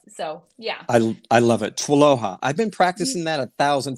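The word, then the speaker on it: TWLOHA: But Tualoha is a bit how we pronounce that acronym.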